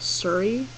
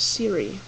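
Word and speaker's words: Siiri: I would not spell it this way because people would probably pronounce it Surrey. Possibly, I don't know. I like Seery or some variation of that. But it's Siri, and I really like Siri.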